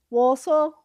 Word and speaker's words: Walsall: Walsall.